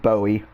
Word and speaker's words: Bowie: that's how you say it's buoy not bowie not like david bowie though he was a good musician it's bowie like a buoy you know you got